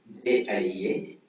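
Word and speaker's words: 家: ஜேஐஏ ஜா ஜா மேல இருக்கிற டோன் பார்த்தீங்கன்னா ஃபிளாட்டா. ஸோ அதை எப்படி ப்ரொனவுன்ஸ் பண்ணணும்னா ஜா ஜேஐஏ. ஆல்மோஸ்ட் இது இங்கிலீஷ் ப்ரொனவுன்சியேஷன் மாதிரி சேம் தான்.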